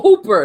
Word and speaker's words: Hooper: like, and the funny is his name is Hopper, but it's spelled Hooper. Oh, Hooper.